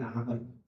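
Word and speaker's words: عمرو: tulisan dalam bahasa Arab kalau Umar Ain mim ro kalau Amr Ain mim ro lalu ditambah wau ya itu bacanya Amar ya Jadi kalau ada Abdullah bin Ain mim ro ada wau setelah huruf ro ada wau maka bacanya Amr Abdullah Bin pakai Ain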